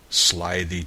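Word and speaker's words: slithy: that has often been asked me how to pronounce slyy toes the eye in slyy is long as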